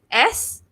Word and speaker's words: sixth: So the word is SIXTH. Right? All right. So So how do you pronounce it?